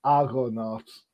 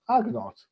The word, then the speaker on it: Argonauts: Your project is the Unbreakable Argonauts, and I've said it wrong. Argonauts, there you go.